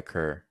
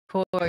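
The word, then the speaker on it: Kur: And Got Through It All by Kerr. Or I'm saying his name wrong. But K-U-R. Core, yeah. Core.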